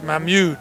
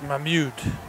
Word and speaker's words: Mahmood: to pronounce I commute it's my mute Mikey so the U is is not silence my mute Howard rolls out is